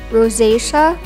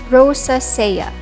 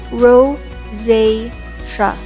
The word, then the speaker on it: rosacea: face when you ask someone about it say rosacea instead of rosa saya again it's ro zay shah rosacea tinnitus tinnitus is when you experience ringing